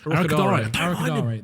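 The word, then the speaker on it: Arokodare: Arakudal, how do you say it? Arakudare.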